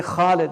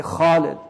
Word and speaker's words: خالد: Like say Khalid because don't say it like the Arabs say it now. Khalid. Say Khalid because it's harf mufakhama.